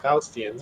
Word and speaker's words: Faustian: You say it Faustian.